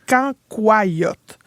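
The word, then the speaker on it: cancoillotte: Mais ça ça moi je dis cancoyote mais il paraît qu'il faut le prononcer canyote.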